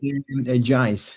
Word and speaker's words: Jaiz: Jaiz with the J.